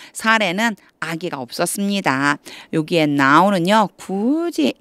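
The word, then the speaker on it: Sarai: Child는 아기가 없는 거예요 사라는 아기가 없었습니다이 사라라고 읽으면 안 되고 사례라고 해야죠 사례는 아기가 없었습니다 여기에 나는요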